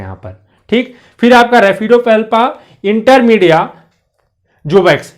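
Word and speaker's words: Raphidopalpa: तो ये क्या है आपका रेड, ये PHF जो है उच्चारण में आएगा और ये आपका हो जाएगा रेफिडोपेल्पा।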